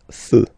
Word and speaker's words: feux: You don't put S, but you will put X instead, and then you don't pronounce it. Des feux, un feu, des feux.